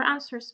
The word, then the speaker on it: answer: will check if your answers match. Some few examples, examples with K. No, knit. Okay, I'm knitting. I'm making a scarf. Night. Answer. So here the W is silent.